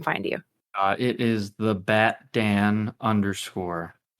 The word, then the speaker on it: BatDan: So what was your inspiration behind the BatDan? I think this is pretty simple. My name is Dan. I really like Batman. Mm-hmm. So Batman rhymes with BatDan.